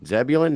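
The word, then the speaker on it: Zebulon: and your nickname um the name zebulin zebulin is that how you say it yes sir yes that is I can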